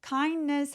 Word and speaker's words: kindness: kindness 할 때 kindness라고 D 소리를 살짝 내셔도 괜찮고요. 이렇게 자음이 뭉쳐있을 때 보통 T나 D들이 없어지는데 빠르게 발음하면 kindness 하면서 D가 사라지게 됩니다.